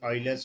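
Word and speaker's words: Euler: e is known as Oilers constant e u i l e r Oilers constant okay you have to pronounce it as Oiler and it is written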